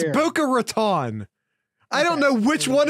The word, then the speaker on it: Boca Raton: guest via your pronunciation it's Buca Raton I don't know which